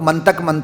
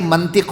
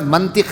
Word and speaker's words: منطق: لوگ منطق کہتے ہیں. میں ٹی وی پہ بھی بات ٹاک شوز کو دیکھتا ہوں تو منطق، یہ منطق نہیں ہوتا بھائی، لفظ کا حسن نہ بگاڑیں، یہ منطق ہوتا ہے. یہ لفظ منطق ہے، منطق نہیں ہے.